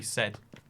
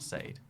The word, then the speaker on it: said: to be say does have to be said not Sayed you know it's a